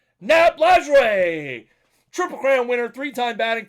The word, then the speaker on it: Lajoie: AL Central, and a guy who I have pronounced his name incorrectly 875 times by my recollection. And it's Nat Lajoie.